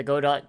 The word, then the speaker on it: Godot: uh this is gonna go dot is pronounced godo okay all right okay